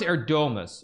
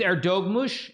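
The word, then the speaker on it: Erdoğmuş: I mean I I I I I cuz like I thought it was Erdomus. Erdomus is what I was told. It's Erdogmus. Erdogmus, basically.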